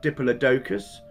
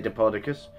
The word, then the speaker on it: Diplodocus: Some people pronounce it Diplodocus. I personally say Diplodocus.